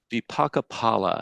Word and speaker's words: vipaka phala: Vipaka phala, I think that's the way it's supposed to be pronounced. The PH is a P, not a F sound.